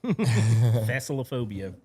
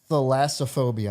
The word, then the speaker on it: thalassophobia: Thalassophophia. I have a few choices. Copperphagic. Okay, that's yeah, one I like to throw around. that- Thalassophobia, I said it wrong, is the intense, persistent,